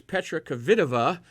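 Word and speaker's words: Petra Kvitová: first Sean was completely wrong and kava it's Petra kavida is her pronunciation of her name and she is you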